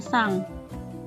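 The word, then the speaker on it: さん: sang jadi harus diingat kalau sang tulisannya stand tapi dibacanya sang digunakan untuk menyebutkan nama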